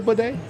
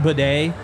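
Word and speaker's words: Badie: the Press Box that they were saying it it's pronounced bedet we've been calling him batty we've been call him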